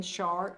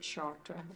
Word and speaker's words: Chartres: So this one in Chartres, or some people pronounce it Chartres, I can't say it in French. But anyway, the person who trained me called it Chartres, so that's why I'm stuck on that pronunciation.